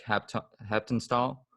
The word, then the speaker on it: Haptonstall: another episode this is fedram here with zach hepton style is that how you pronounce it that's right yep that's right yeah